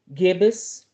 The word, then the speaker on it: gibbous: with last night so we have the waning gibbous that's the proper way to say it and